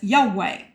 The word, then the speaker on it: Yahweh: So to be pronounced using vowels as Yahweh.